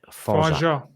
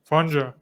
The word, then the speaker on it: Fangeat: Yeah, I pronounce it Fangeat in French. Fonja. Yeah, Fangeat. Fonja. Fonja.